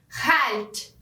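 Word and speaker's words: chalt: Ao invés de escrever kalt, como no alemão, eles vão escrever com CH e vão ter uma pronúncia mais pegando na garganta. Então, vão falar halt.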